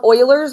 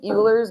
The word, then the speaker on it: Euler: So what we are going to look at today is called Oilers's method. I know it looks like Eers, but it's pronounced Oilers.